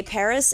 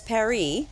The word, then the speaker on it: Paris: But the French would typically pronounce or drop the last S. if we were in France, we would say Paris as Paris, but they're not about